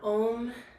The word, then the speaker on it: om: chants of om now om is pronounced the the way that we sound it out it starts with an ah we round it out into an o and we end it with an n g so you kind of